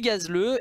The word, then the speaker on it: Gazleu: nom propre d'ailleurs c'est pas un pseudo c'est gazleux et du coup gazle G a Z le